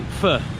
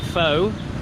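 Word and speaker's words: phở: dish the classic the pho which apparently you need to be careful how you say it you need to say fur apparently if you say it faux then that might mean prostitute so if you ask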